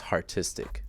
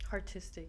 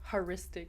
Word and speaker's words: Hartistic: And it's pronounced Hartistic. Hartistic, yeah. How did I say it earlier? Haristic.